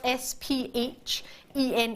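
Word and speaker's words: sphene: first I struggled with how to pronounce it CU it's spelled s p h e n e and then I thought well that's going to not be very pretty is it it's called sphen its name does not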